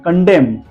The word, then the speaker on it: condemn: AUTUMN, इनको हमने silent रखा है। एंड कंडेम, विरोध करना, कंडेम, निष्कासित करना, CONDEMN, हमने यहाँ पर एन को साइलेंट रखा है।